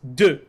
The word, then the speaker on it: de: When you see de, it's de, like the number two.